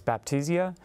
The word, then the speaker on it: Baptisia: refer to by the botanical name, which is Baptisia.